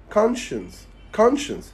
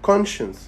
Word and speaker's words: conscience: في الامريكان اكسنت اسمه conscience وفي البريتش اكسنت اسمه conscience.